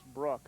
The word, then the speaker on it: Brooke: Well, I think the pronunciation on this young man's first name is Brooke. I just heard Mom, Monica, in the background. Let's go Brooke. So we'll stick with Brooke.